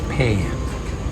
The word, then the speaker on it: Phrae: up the bloody uh the spelling of this town apparently it's paired must have a silent h and I worked out